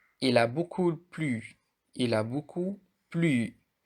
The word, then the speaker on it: beaucoup: Au printemps, il a beaucoup, pour le mot beaucoup, on n'a pas prononcé le P aussi.